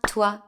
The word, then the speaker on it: toi: The sound wa, like in water, is written OI in French. Please don't pronounce the O and the I separately, it's just wa, like in moi, toi, or choix.